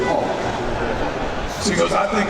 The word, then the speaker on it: Hulk: He goes, no man, Hawk. And he's pointing at the Hulk. And I'm like, you're mispronouncing that shit, dude, Hulk.